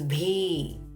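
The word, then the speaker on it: भी: In Hindi, it is bhi. Notice it is not B, it is bhi. Ha sound is coming with B.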